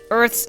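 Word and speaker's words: Urth: Are you familiar with Earth's Gift? Earth is spelled U-R-T-H.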